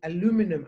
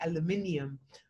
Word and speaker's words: aluminium: you're going to use aluminum i know that in the us you say aluminum we say aluminium um aluminium paper because